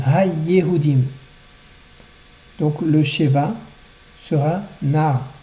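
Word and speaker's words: הַיְּהוּדִים: Ul abed et kol ha-yehudim. Attention à bien prononcer le dagesh de yehudim. Ha-yehudim.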